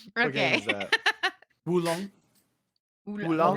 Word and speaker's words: Wulong: Wulong. Oolong? Long Oolong. Dynasty. Oolong, Oolong. like the tea. Okay, I'm gonna try. I would try. I Oolong tea. Not Oolong. Wulong. Oolong.